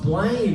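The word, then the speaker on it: Blame!: is the last one today by tangled earpods blame is a good anime on its own thoughts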